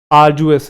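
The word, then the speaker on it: arduous: मिलेगा याद आ जाएगा आर् जुएस इसके अंदर ड वाला हल्का सा आता है आर् जुएस ड बोलते हैं डी साइलेंट नहीं होता आर् जुएस हल्का सा साउंड रहता है बट बोलते हैं आर्स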